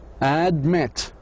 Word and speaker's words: admit: Two syllable verbs on the last syllable. Release. Release. Admit.